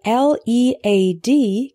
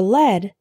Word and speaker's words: lead: The word LEAD can be pronounced lead or led.